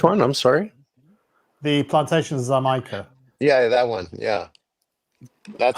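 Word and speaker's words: Xaymaca: The plantation Zama. Yeah, that one. Yeah, that's I call it Jamaican. J make it. Oh, but I see where you're getting the ZA.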